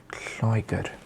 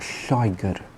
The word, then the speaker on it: Lloegr: Basically, you produce the sound by putting your tongue to the roof of your mouth and just blowing and releasing air.